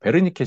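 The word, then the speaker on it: Wernicke: 그 다음으로 베르니케 실어증, 뭐 워니크라고 발음하시는 분들 계시는데요.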